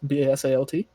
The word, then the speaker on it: basalt: um i don't i don't never i never pronounced this right basalt b-a-s-a-l-t yes it's basalt basalt okay um this is